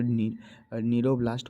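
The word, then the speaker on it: cnidoblast: कमी होती है यहां सी एन आई डीओ सरो ब्लास्ट लिखा हुआ है लेकिन इसको नीरो ब्लास्ट पढ़ते हैं क्योंकि सी साइलेंट होता है ठीक है ये एआईपीएमटी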